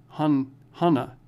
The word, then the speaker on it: Hana: Note, no big, but my name is pronounced a little weird. More like Honda. Oh, really? Honda. Without the D. Hana.